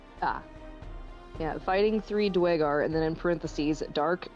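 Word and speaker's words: duergar: Droger Dwar, sorry. Yeah, I learned how to say it properly because of Vul's gate. Ah, yeah. fighting three dwagar and then in parenthesis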